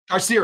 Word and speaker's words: Carcerem: Carcerum. Pronunciation.